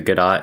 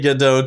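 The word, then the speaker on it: Godot: do I think it's I think the t is silent I say good I say gdo too.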